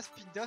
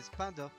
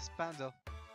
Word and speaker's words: Spinda: On va pouvoir boire un coup chez Spinda. Ah, moi je dis toujours Spinda. Alors c'est pas Spinda, c'est Spinda. J'ai toujours appelé ce Pokémon Spinda. Mais c'est vrai que c'est Spinda.